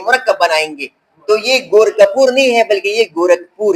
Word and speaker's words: گورکھپور: بعض لوگ اس کا تلفظ اختیار کرتے ہیں، بڑے بڑے لوگ میں نے سنے ہیں وہ تلفظ اختیار کرتے ہیں گورکھپور. گورکھپور. تو کپور میں یہ دو چشمی ہاں موجود نہیں ہے.